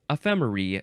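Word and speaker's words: ephemerae: Yeah, ephemeri, spelled with an A-E at the end.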